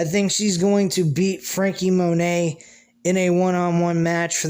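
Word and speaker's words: Franky Monet: monet frankie monet is her name i keep pronouncing it frankie monette because of the t and i'm thinking it's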